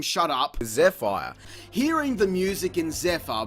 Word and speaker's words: Zephyr: Zephyr.